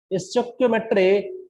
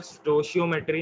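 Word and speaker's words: stoichiometry: ठीक है, तो सर स्टोशियोमेट्री नहीं होता? वो वैसे ही पढ़ा जाता है, कोई स्टोइकियोमेट्री पढ़ लेता है, कोई स्टोइकियोमेट्री पढ़ लेता है। ठीक है, प्रोनाउंस करने का अपना तरीका है। ठीक है। यस सर। ये दोनों पढ़ सकते हो, इसमें कोई भी दिक्कत नहीं है।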